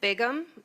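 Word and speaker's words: Bigham: Ma'am, if you could state your name and spell it for the record, please. Bigum.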